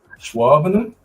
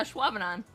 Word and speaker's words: Ashwaubenon: Schwabener? Actually, you're like, yeah, Ashwaubenon.